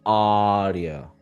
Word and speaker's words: audio: And again, just like I was telling Rosa, feel that difference between the first sound that is stressed and it's long, ah, and the other one, rio, very fast. Say one more time. audio audio Beautiful.